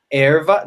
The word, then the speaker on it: erva: Erva. The way I say it, it's erva.